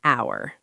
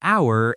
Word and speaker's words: hour: Although our starts with H, the H is silent. So the word starts with the vowel sound. Therefore, we say an hour. So an hour and an apple.